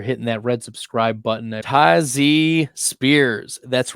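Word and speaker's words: Tyjae Spears: you guys are hitting that red subscribe button tazy Spears that's right that's how it's pronounced tazy Spears not Tai J tazy Spears we knew that Derk Henry was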